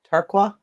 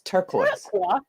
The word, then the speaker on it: turquoise: word they pronounce it like it looks they're pronouncing no they they call it how about turquoise some people call it tarkwa it's turquoise they're pretending to be French I know it's